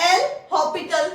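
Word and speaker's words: L'Hôpital: इन एल हॉस्पिटल rule but अपना एस की है साइलेंट है तो प्रोनाउंस किवे करते हैं आप एल हॉस्पिटल रूल तो देखते हैं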